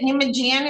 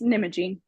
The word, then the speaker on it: Nimijian: Okay, this is is it Nimijian? Is that how you pronounce it, or did I mispronounce it? Oh, it's Nimagine.